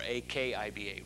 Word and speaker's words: Akiba: name of rabbi acuba sometimes you'll see it spelled with a k a q i b a or AK IBA Rabbi Akiba and toward the end of the